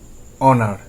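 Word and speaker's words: honour: এইচ এর উচ্চারণটা অ এর মতো হয়, কিরকম? অনার, এইচ ও এন ও ইউ আর, অনার, সম্মান করা।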